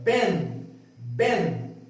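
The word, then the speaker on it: בן: Você vai ler Ben, Ben, tá? Então lembrando que o N, ele vai sempre ser pronunciado dessa forma, ó.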